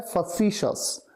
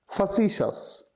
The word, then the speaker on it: facetious: उच्चारण इसका होता है फसीशस। फसीशस।